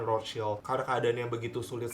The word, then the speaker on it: Rothschild: Jadi di video ini gue bakal pronounce Rothschild itu dalam bahasa Inggris aja ya. Kalau pakai bahasa Jerman kan dia pronounce-nya itu Rothschild kan. Cuman biar kalian yang udah pernah dengar nama ini tuh kan lebih familiarnya dengan Rothschild, bukan Rothschild.